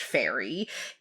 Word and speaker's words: Ferry: So, Guy Ramsey Fieri, his birth name is Ferry, and is pronounced Fairy.